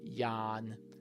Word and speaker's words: yawn: The pronunciation looks like yav or something but it's ya yan like that that is yawning.